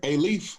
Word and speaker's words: Alief: Yes, sir, Alief.